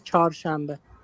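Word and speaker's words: چهارشنبه: okay so is char shambbe Wednesday is char shambbe that's that's the that's the how you pronounce today's char shambbe Wednesday.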